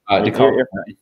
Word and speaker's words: DeKalb: DeKalb.